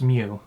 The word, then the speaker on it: Mu: it's supposed to be well no the mu in japanese it's mew yeah it's mu because